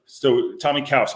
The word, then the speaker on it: Tomi Caws: So Tomi Caws, am I saying it right?